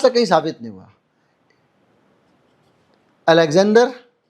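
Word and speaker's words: Александр: Alexander, अलेक्सांदार बोलते हैं वहाँ पे रशियन प्रोनाउंसिएशन में, लिविटेंको, एलेक्साई नोवेलिनी, नोवेलिनी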